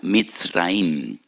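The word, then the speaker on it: מצרים: Y recuerdan la aflicción, la amargura de la esclavitud, porque la palabra Egipto en hebreo se pronuncia mitraim.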